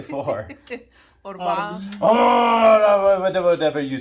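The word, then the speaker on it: أربعة: Orba.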